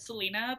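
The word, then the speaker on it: Celaena: So it starts out as I don't know if it's pronounced Kalena or Selena. I think the back of the book, it's in the pronunciation guide, it says Selena, but because I've been reading it as Kalena, I still call her Kalena Sardothian.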